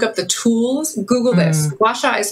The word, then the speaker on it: gua sha: if you look up the tools google this washa is spelled g-u-a space s-h-a and it uses usually